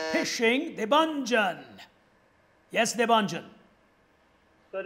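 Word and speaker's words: phishing: is the concept of fishing spelled with a p and a h not f p h i some pronounce it as fishing yes devangel but it's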